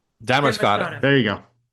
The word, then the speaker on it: Damariscotta: And uh I'd actually like to go underwater to see it's Demorata. Demorrisca. No, no, just forget the demercott. Four syllables. Dammerscotta. Dammercotta.